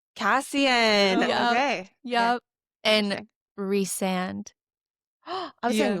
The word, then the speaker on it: Cassian: Cassian. Cassian.